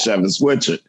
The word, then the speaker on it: Schewitz Whichard: Because when you see my name the first time, you don't think that lineup of letters says Schewitz Whichard.